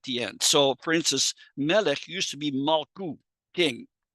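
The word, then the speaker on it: מֶלֶךְ: So they added a segol as helping vowel, malech. But then eventually that original vowel, ma, was leveled out, and the helping vowel was also used in the previous syllable. So it became melech.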